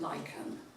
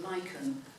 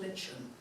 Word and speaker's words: lichen: These days, we pronounce it lychen.